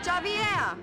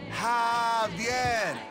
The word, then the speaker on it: Javier: Javier! Bitch, you don't get it. It's Javier. It's pronounced like an H. Javier.